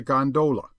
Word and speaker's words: gondola: amongst the fraternity as a gondola with the second syllable emphasized and pronounced long but to return I